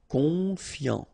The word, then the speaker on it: confiant: Okay, final T not pronounced. So O-N, on, I-A-N, ian. Confiant.